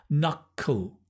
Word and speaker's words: knuckle: Knuckle, cull. It's the dark L, knuckle, to knuckle down.